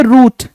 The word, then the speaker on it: route: इसकी प्रोनाउंसिएशन क्या है, राउट, और इसकी प्रोनाउंसिएशन क्या है, रूट, ROUTE।